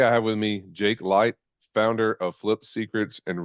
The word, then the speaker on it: Leicht: estate realtor today I have with me Jake light founder of flip secrets and real estate investor